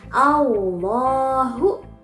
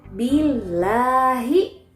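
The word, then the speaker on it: الله: Bagaimana baca tipis? Nah, kalau tadi tafhim kan bacanya Allahu. Kalau tarqiq bacanya billahi, lillahi. Lafaz Allahnya kita baca tipis ya, tidak tebal.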